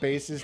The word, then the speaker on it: Bass: it was dumb that they pronounced uh bass's name like a fish i know right bass